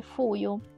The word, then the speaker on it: 冬: L'ultimo kanji rimasto è appunto quello di inverno, che in giapponese si dice fuyu. Il kanji si scrive così. La pronuncia con yomi è appunto fuyu, che in hiragana si scrive così.